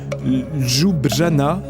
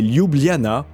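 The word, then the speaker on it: Ljubljana: en concours de prononciation jujana el jujana non perdu la bonne façon de le dire c'est lubliana et même là c'est pas facile avec presque 300000 habitants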